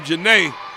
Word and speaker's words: Janae: And there, hey, Janae Sai, that D is silent on her name, Janae, with a real nice return.